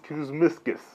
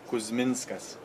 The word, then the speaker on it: Kuzminskas: guy on my team who's the quietest is Mandalgus Kuzmiskus. I don't know how to pronounce his name, right, man?